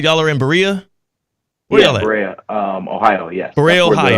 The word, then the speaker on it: Berea: Am I saying Berea or Berea?